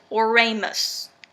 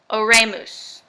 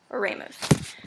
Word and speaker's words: oremus: prayer and this particular word is oremus oremus or ramus is like how you say it or Ramos and a ramus means